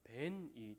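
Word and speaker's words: בן: 히브리어로 아들을 발음하면 벤이 됩니다. 그리고 돌을 에벤이라고 발음을 합니다. 두 단어가 비슷한 발음을 가지고 있죠.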